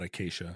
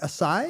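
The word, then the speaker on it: açaí: It's not acacia. Oh, like It's a sigh? A sigh. The C has a thing under it, right?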